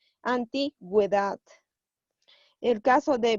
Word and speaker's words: antigüedad: Nos sirve para dar sonido a la vocal U, en sílabas que sean ge o gui. Por ejemplo, a ver. A ver. Si yo pondría esta palabra sin diéresis, sería antigüedad. Pero como yo voy a poner la diéresis, vamos a pronunciar la U y sería antigüedad.